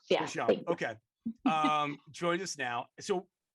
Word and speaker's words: Deschamps: my maiden name, but Deschamps. Yeah. Deschamps.